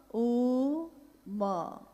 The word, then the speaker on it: ओम: दी, जो प्रकट हुई, उस ध्वनि की आवाज थी आ ओ मा। अगर एक साथ सुना जाए उसको तो उसकी आवाज गूंजती हुई ऐसी है जैसे हम बोलते हैं या उच्चारण करते हैं तो हम कहते हैं ओम, है वो आ